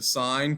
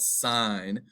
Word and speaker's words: sine: we can know the sine cosine and tangent that's not the sin that's called sine cosine and tangent that's